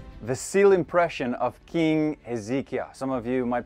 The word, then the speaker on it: Hezekiah: the next one the seal impression of King ezekiah some of you might pronounce it Hezekiah you know the king who lived righteously before